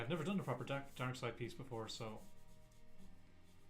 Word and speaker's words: Darkseid: David, it took me so many years before I realised his name is pronounced DARKSEID.